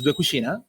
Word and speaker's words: Cucina: you said it right the name of the company is Kushina and you said it right so that make me